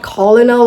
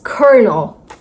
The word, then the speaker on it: colonel: It's not colonal or kal. A bit of tongue twister right there. It's kernel. Colonel. I know what you guys are thinking. This word nowhere has R, but we are still pronouncing. Yes, you're still pronouncing this word is kernel.